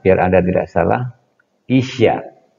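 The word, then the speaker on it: 医者: Isya, bukan Isa ya.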